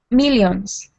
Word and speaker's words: millions: Millions. Millions. So you're saying millions, but that I sound is not e.